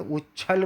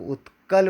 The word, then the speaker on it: उत्कल: यहाँ पर मज़े के साथ उच्छल बोल देते हैं और आगे बढ़ जाते हैं। यहाँ पर बहुत ध्यानपूर्वक उत्कल बोलना है।